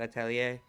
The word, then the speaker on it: Atelier: Also, I'm glad you taught me how to say that, Atelier, because I would not, like, I would literally have kept mispronouncing it.